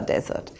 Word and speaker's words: desert: is a dry arid area like the Sahara Desert and is pronounced as desert this one however dessert is